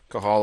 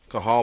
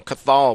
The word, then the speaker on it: Cathal: Cathal Pendred. The T is silent. We've been calling him Cathal, but it's Cathal Pendred.